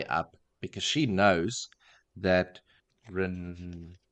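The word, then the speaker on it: Rand: because she knows that Ren how do I pronounce again ran is a ren yeah no not re rain rain the other one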